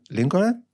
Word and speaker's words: Lincoln: that Israelis will pronounce the letters that aren't supposed to be pronounced. Like the L in Lincoln.